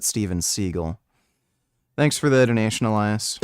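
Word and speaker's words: Steven Seagal: crime or something yeah stevenh seagull that's actually how you pronounce his name seagull he just he claimed you pronounce it Seagal because it sounds cooler but you actually pronounce it stevenh seagull thanks for the donation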